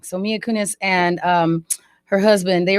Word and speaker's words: Mia Kunis: did you see that story um about um mia kuvich and um mia kunis yes i always say her name wrong so mia kunis and um her husband they were talking about